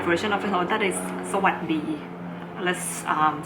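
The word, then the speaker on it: สวัสดี: Like for example, this Sawasdee, you're not supposed to say Sawasdee. The S is omitted because the final sound of the words are often omitted in Thai language.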